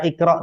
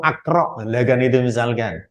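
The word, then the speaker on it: اقرأ: Tambah jauh lagi nanti seperti lafal Iqro Kenapa dibaca Iqro tidak Iqro atau aqro ini adalah Hamzah washal yang berada di kata kerja bentuk perintah yang asal katanya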